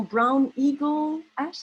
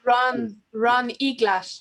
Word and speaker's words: Ron Eglash: Et là, j'essaie de prononcer son nom. Brown Eagle Ash, is that what you said? Ron Eglash.